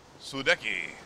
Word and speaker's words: Sudeki: Oh, and best of all, thanks to that cutscene, we now understand how to pronounce the name of this game. Woohoo! It's Sudeki.